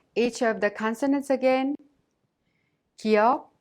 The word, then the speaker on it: 기역: 기역 is not a strong K sound or a voiced G sound, but pronounced in a soft K sound in an initial letter.